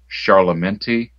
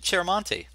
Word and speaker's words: Chiaramonte: And I'm going to pronounce this incorrectly, but the inker was Charlamenti. You know what I'm talking about, Frank? I Oh, just Chiaramonte. Chiaramonti, thank you very Yeah.